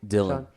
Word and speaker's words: Dhillon: car how do you say your last name Dylan Dylan yeah it's so simple I've been over pronouncing yet it was saying like Delia honors